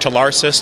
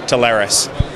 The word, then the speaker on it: Telarus: probably over a dozen I'd say we've heard Tarsus tarus Taris internally some of our employees still don't pronounce the way we choose to pronounce it but that pronunciation is as you stated Taris okay Taris I'm going to get it right um and